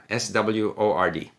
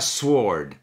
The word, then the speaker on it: sword: Sword, S-W-O-R-D. Elle prononce ça sword.